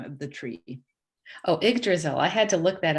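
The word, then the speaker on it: Yggdrasil: quick questions for you um how do you pronounce the name of the tree oh egg drizzle i had to look that up it's a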